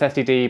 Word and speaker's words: std: I always pronounce this std, but I think most people say stud, and I should really start doing that.